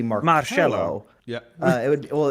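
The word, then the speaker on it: Marchello: like uh it's m-a-r-c-h-e-l-l-o but the c-h is pronounced like an s-h and that like that always bugged me because i was like in english it would be marcelo and italian it would be more cello yeah uh it would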